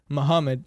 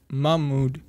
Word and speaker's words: Mahmoud: his name muhammad and his real name is mahmoud which is yeah like it's spelled uh relatively similar yeah but i i thought it meant this i thought the pronunciation was the same and i said on